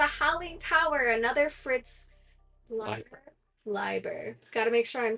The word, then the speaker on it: Leiber: I'm saying it right I always want to say Liber me too I that ey should be long right I don't know I don't know what is English wrong what is the English is e i is Li yep I E is Leap yep that's proper pronunciation struggle with English as